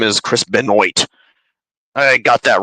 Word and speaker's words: Benoit: because I mean it's like At first I mispronounced uh Chris beno's name is Chris Benoit I got that wrong too at an earlier